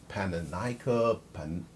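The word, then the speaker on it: Pannonica: by the Baroness Pananica, however you say the Panonica, I think that's how they say it, Panonica de Coinish Water.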